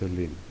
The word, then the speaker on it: Alen: ways and I agree it's a weird name because Ellen is a girl's name I know but my name is alen this is how you pronounce it alen and I'm not